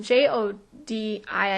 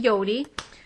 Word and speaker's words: Jodi: Yodi it's spelled um j o d i I believe but so it look like Jodi to us but her name is actually Yodi and what a great